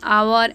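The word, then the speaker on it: hour: अगर कोई वर्ड का पहला लेटर एच हो लेकिन वह साइलेंट हो तो उसके पहले हम लोग एन का यूज़ करेंगे। For example an आवर, an honest man, N honourable etcetera.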